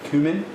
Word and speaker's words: cumin: have one tablespoon of cumin cumin all right cumin that's how you pronounce it cou because i pronounce it done